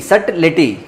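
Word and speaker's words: subtle: सो यहाँ पे देखना ये बी साइलेंट है। सट SUT सट पढ़ सकते हो, फिर लेटी सट लेटी।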